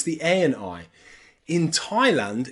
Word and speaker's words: Thailand: or Hawaii or even Thailand here the A and the I are pronounced I I Thailand Taiwan or Hawaii with